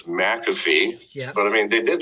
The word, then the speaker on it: McAfee: wanted to clear up is your name pronounced mac affy or mcafee you know where's the emphasis placed you know well my parents told me it was mcafee but i mean they